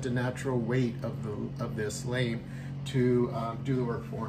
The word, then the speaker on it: lame: It's called, I think I'm pronouncing, I'll pronounce it, a lame or a lamb, L-A-M-E.